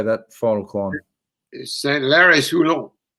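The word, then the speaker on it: Saint-Lary-Soulan: I'm shocking with my French pronunciation. How do you say that final climb? Saint-Lary-Soulon, Col de Potet.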